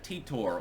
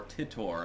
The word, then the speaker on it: Titor: Alright everyone, it's time for the Occult video number 392 on John Titor, or Titor. I've heard it pronounced both ways, and I'm going to